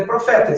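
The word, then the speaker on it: προφήτης: Mas é profetas, eu coloquei aqui o acento só para a gente saber que é profetas, tá?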